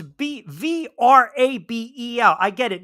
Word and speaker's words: Vrabel: I know it's not Grable with a G. I understand. I mean, yes, the V is kind of silent, like Grable. Isn't that also? Look how Vince phonetically. Wait, isn't that what was the other word? I mean, look, you guys know I'm gonna butcher this. Vabel. No, it's Vrabel.